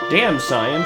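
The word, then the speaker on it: Damcyan: yeah that's Castle damson damn cyan like damn cyan from ff6 it's it's spelled damn cyan all one word the ending the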